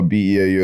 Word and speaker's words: Beau: Beau Allen. Yeah. Thank you for having me, gentlemen. I really appreciate it. And that is spelled Beau, B-E-A-U. Like beautiful.